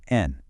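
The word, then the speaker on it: 円: To make it a price, we simply add the currency counter for yen, pronounced en.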